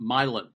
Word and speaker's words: Milan: team beats the Christmas addict team they're actually pronounced believe it or not milin milin yeah they are they wanted to get